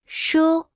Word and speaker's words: 书: 书书书书书书书 Se pronuncia con el primer tono.